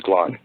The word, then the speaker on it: Glagg: was his name is glag that's in how I would spell know there's no dictionary and there's no written language but spell it ftic according to his pronunciation of it his name was glog yeah his name GL